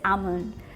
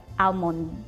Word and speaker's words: almond: like pronounce it at almond. Okay. So, I think the way I heard it a lot growing up was almond. like dropping the L in entirety.